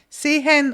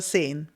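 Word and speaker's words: sehen: To speak, to see or see like all the a n at the end of the verbs, sometimes they're pronounced more clearly, sometimes less. It's really, it's not even a dialect thing. It's how you feel. Seen or say both are good.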